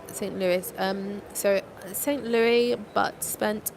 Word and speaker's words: St. Louis: Wait, is that pronounced St. Louis, right? That's how we say Louis here. I've heard people say St. Louis.